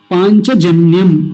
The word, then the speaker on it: पाञ्चजन्य: शब्द है पांच तो पहले शब्द को ऐसे लिखेंगे पांच य जो बीच में य बोला जाता है इसको य का होता है च छ ज य चक या च वर्ग का अंतिम वर्ण है य तो की आवाज देगा जैसे हम पंच लिखते